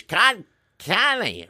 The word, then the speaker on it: Kanye: Connie. Well, I don't know what anybody's name is, so I can't pronounce it right. You got to tell me. It's Kanye, right?